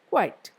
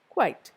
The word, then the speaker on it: quite: quite is an adverb there is also a difference in the way we pronounce the two words q-u-i-e-t is quiet it is spelled with a ear sound in between quiet whereas the other one is quite quite there is no ear sound quite so quiet is an